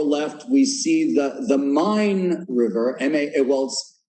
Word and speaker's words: Main: we see the the mine river m.a whilst spelled like maine m-a-i-n but it's pronounced mine and the mine is